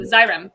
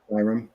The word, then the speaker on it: Xyrem: Xyrem. Yeah. Xyrem. Okay, Yeah, it's pronounced with a Z, I believe, but Yeah.